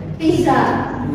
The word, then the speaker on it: pizza: Pizza bacanya pizza karena Z dibaca PS.